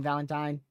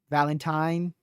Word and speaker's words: Valentine: Valentine. One or the other. Valentine. You could still pronounce that either way, Ben. Valentine. Valentine. Either the the way you type that, you could still pronounce it both ways.